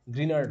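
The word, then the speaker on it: Grignard: এখানে গ্রিগনার্ড লেখা হয়েছে, যদিও ইংলিশ উচ্চারণটা হচ্ছে গ্রিনার্ড হবে আর কি, ঠিক আছে।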